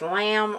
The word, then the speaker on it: lam: I think it's lamb or it's lamb. Maybe lamb. I'm not sure. Oh, okay. Okay. Okay. Rhyming with drums. So, it's lum lum lum.